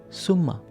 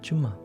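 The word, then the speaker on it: சும்மா: The first word, Summa or Chumma. I use two different variations of this, because in different South Indian languages, pronunciation is a little bit different and the meaning is the same.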